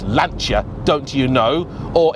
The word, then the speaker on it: Lancia: It's Lanchia, don't you know?"